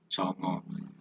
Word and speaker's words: Songo: Hai bab adalah Walisongo Tulisannya sangat Tapi bacanya Songo kalau nanti pakai Omah keliru jadinya yang betul dengan seperti